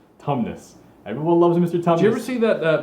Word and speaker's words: Tumnus: Tumnus thank you I had the first syllable I didn't have a laugh syllable Tumnus everyone loves mr.